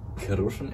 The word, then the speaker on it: Kochin: are from a locality that's called kushan actually that's how it's pronounced and but Morocco has